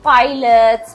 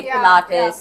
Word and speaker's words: Pilates: people would call it Pilots people would call it Pilates people would call it plates splits and uh yeah so I mean obviously uh people didn't know how to say it because now everyone can